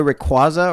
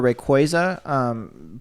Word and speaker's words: Rayquaza: Yeah, that said, shout outs to our boy Rayquaza or Rayquaza. Both are acceptable pronunciations.